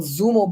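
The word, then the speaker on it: Xumo: And they give you those little Zumo boxes spelled with an X, X-U-M-O.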